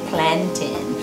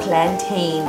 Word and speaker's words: plantain: But But so today we're having callaloo with saltfish and fried plantain, or plantain, the proper pronunciation, as my mother would say.